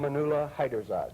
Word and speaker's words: Amaunullah Haiderzad: And this man, whose name I wouldn't dare to pronounce, you help me one more time? Amaunullah Haiderzad.